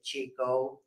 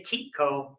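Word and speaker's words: Chicco: Italian owned company and that CH gets a hard sound you know we say when you say it right it makes you smile you could say Chico without smiling but you can't say k coo without a smile so that's that's the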